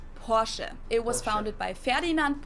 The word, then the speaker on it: Porsche: I've heard Americans pronounce it Porsche or Porsche. Okay, I'm wrong. In German, we say Porsche. So there's like this short E sound in the end. Porsche.